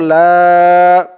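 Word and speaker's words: لا: তো বলুন আমার সাথে লাম আলিফ জবর লা লা টান হবে লা হামজা হাজের ই লা ই লাম খারা জবর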